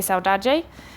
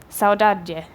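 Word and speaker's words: saudade: kind of incompleteness and it's pronounced differently depending on what kind of Portuguese you're speaking so Brazilian Portuguese they say sell daje and with European Portuguese they say more like sour dad dear so it's more like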